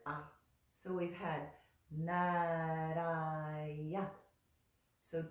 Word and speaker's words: Nārāya: It's a little bit like a rolled R in Spanish. Nara, nara, nara. We just touch the tongue there and let it draw back down. Nara, nara, nara. Good. The next syllable is ya, just like it looks like. So and that is a short ah.